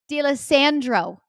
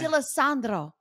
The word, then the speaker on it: D'Alessandro: And I'm going to say his name the way he says it in a Staten Island way, which is Eric D'Alessandro. I would have said D'Alessandro. Yeah, that roll no, the tongue.